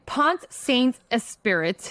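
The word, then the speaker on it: Pont-Saint-Esprit: It's Point Saint. That's a French for sure. Like Point Saint Esprit. Pensant. Pensant. Yeah. Esprit. All right, I'm going to say it like an American. Pont Saint Esprit, okay?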